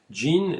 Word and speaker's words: Jean: femmes le personnage principal Jean Jean ça s'écrit Jean mais on finit par comprendre que c'est un prénom féminin jein n'est pas décrite à